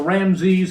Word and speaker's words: Ramses: Now, when it says Ramesses or Ramses, however some people pronounce it, this was not the name of this Pharaoh.